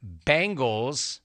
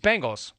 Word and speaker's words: Bengals: team name it's not Bengal it's not Bengal it's Bengals really it's a simple word and I see numerous